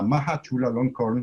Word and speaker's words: Maha Chulalongkorn: se pronuncia la universidad en Tailandia? Bueno, en realidad se conoce como la Maha Chulalongkorn University.